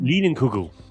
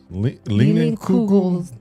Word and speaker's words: Leinenkugel: Lienenkugel? It's LEINENLIUGELS. Why would you even try? Oh no, that's K. KU. Leinenkugel. Leinenkugel.